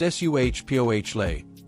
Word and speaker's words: Esa Pole: No, it was ESA Pole, pronounced Suhpohle, a rookie making his NFL debut, thrust into the fire after never playing high school ball.